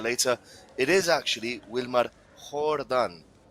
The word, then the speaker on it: Jordan: it's the same as Jordan. Wilmar Jordan. The J is silent for the Colombian striker of I think it's Arisha or Chennai. I'm not sure right now. But it is silent.